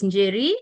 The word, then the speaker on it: Njeri: has introduced me is Jerry. It's a name with an N I don't know why there is an N so the N is silent.